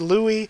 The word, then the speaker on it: Louis: And I'm pretty sure it's supposed to be pronounced Louis, but I am in such a habit this entire year or so that I've been reading the manga.